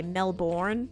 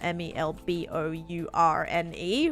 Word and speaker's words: Melbourne: of people will say Melbourne cuz it's spelled m e l b o u r n e which is yeah a little bit weird that like all that L part is silent but Melbourne guess you